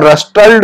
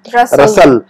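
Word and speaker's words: rustled: D tree in reply ये इसके अंदर जो टी है ना ये साइलेंट है ये की आवाज को नहीं निकलेंगे हम तो इसको रस्टॉल्ड नहीं पढ़ेंगे हम क्या पढ़ेंगे इसको हम रसाल रसाल डी ट्री इन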